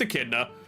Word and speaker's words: Echidna: No, I know Echidna. I was, like, thinking of how to pronounce her name. It's Echidna.